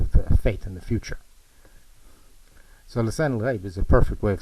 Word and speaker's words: lisan al-ghaib: So lisan al-ghaib is a perfect way of saying it, but they can't get anybody to pronounce it properly, even though they're surrounded by Arabs.